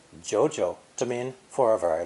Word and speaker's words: 久久: When saying 2 third tones together, it's almost impossible to drop your voice twice in a row. So, Mandarin speakers say the previous character with a rising tone before dipping into the